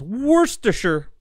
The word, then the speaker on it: Worcestershire: I know a lot of people, I sometimes too can't say it, Worcestershire. Technically, if you want to pronounce it like British people, it's Worcestershire.